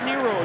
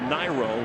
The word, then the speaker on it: Niro: That's Ray Nero again. And wants his name pronounced. Correction, Niro.